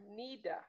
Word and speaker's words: Naida: Naida. Naida. My name is Nida. N-A-I-D-A. The A is silent.